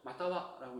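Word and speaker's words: 又は: 히라가나는 마타와라고 적혀 있고 한자를 써서 이렇게 써 있어도 마타와라고 읽어주시면 돼요.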